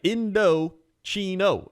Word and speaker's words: Indochino: Indochino.